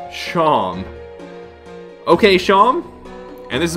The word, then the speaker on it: Seam: The name's Seam, pronounced Shom.